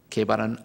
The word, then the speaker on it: 게바: 게바는 아라믹식으로 발음하는 것이고 페트루스, 베드로는 히랍식으로 발음하는 것입니다.